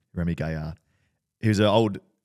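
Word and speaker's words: Rémi Gaillard: Have you ever seen a Remy Gaillard video? That's my French pronunciation. Remy Gaillard.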